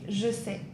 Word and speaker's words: je sais: In French, you would say je sais. Je sais. Je sais. Je sais. Yeah. Je. Je. Je. Je sais. Je sais. Je sais.